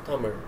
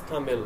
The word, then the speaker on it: Tamil: the Indian language of Tamil. Tamil is written in this manner, and most English or non-Tamil speakers pronounce it as Tamil with an L ending, because Tamil, in my